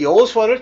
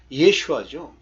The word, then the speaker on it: 여호수아: 근데 그 여호수아를 정확하게 발음하면 예슈아죠. 즉 예수예요.